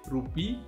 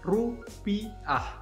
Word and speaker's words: rupiah: Oui, peut-être vous prononcez roupie, mais nous, l'indonésien, on dit rupiah avec A.